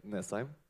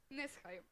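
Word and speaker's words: Næsheim: So first of all, I think most of us are wondering, it's Evan Beck Nesheim, or how do you even pronounce it? Evan Beck Nesheim. Nesheim.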